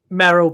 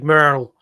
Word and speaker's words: Merrill: Merryill, but it's pronounced in the movie Merrill.